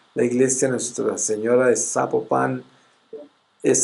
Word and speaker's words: Zapopan: parque donde está la iglesia Nuestra Señora de Zapopan, es Zapopan, y siempre lo pronuncio mal, qué pena.